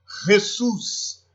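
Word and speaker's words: Jesús: Bom, la J, né, o J, terá sempre som de RR, como no exemplo Jesus, jamás, Jesus, jamás, sempre vai ter o som de RR.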